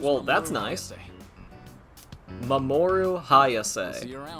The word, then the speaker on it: Mamoru Hayase: Mamoru Hayase. See you around. That is exactly how you pronounce that.